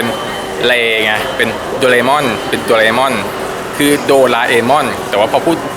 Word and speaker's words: โดราเอมอน: โดรา เออน นะ ครับ คือ อ่าน ถูก วิธี จริง ๆ ต้อง อ่าน ว่า โดรา เอมอน แต่ ว่า จะ มี บาง คน เรียก ว่า โดเรมอน ที่ เรียก ว่า โดเรม่อน